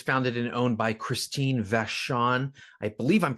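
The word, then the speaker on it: Vachon: Killer Films, uh, was founded and owned by Christine Vashon. I believe I'm pronouncing that right.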